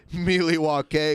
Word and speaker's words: Milwaukee: wisconsin avengers he's from milwaukee oh god yeah the ghost which is actually pronounced miliwa k which is algonquin for the good land the good land